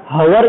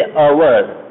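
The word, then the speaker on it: hour: तो वोवेल कैसे हुआ, लेकिन हम उसको बोलते कैसे बेटा, हवर नहीं बोलते, हवर नहीं बोलते कभी भी, हम क्या बोलते, अवर, सिर्फ और सिर्फ इतना ही प्रोनाउंस करते, एच क्या होता है हमारा, साइलेंट होता है।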